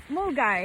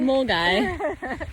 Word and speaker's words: Milngavie: How we just learned how to pronounce Mulgai. Mulgai.